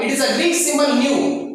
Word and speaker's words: nu: It is denoted by the generally small f, small n, or it is a Greek symbol nu, pronunciation as N-E-U, nu.